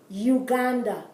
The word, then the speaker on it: Uganda: with these vowels but in english you would say you uganda in spanish no it's ooh because the u cell